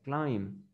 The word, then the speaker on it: climb: Si lo vemos de manera de pronunciación, ese verbo se pronuncia hasta la letra M, se pronuncia climb.